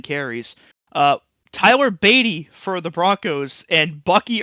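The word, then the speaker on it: Badie: So I think it's pronounced bidet. Is it? No, it's Beatty. Is it? Yeah, it says on PFR.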